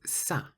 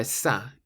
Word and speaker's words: ça: The word is ça. Ça, which means that. Ça. And so it's spelt C-A, and there's a little squiggle on the C, but we'll talk about that in a minute.